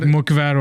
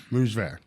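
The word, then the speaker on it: mücver: if I didn't know Turkish, so that would be like mukver or something. Yeah, I would say, mukver. Yeah. How do you say it? So it's because that sounds like a J that sees mucver. Mujver.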